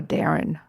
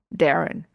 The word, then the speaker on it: Darin: Is it Darin or Darren? Darin.